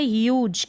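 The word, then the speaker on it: huge: जी को ज पढ़ना। अब जी को कब ज पढ़ा जाता है, कब ग पढ़ा जाता है, इसका रूल है, तो इसका रूल आप देख लें। ह्यूज क्या है, ह्यूज। ह्यूज का मतलब विशाल या बहुत बड़ा, उसको कहते हैं ह्यूज।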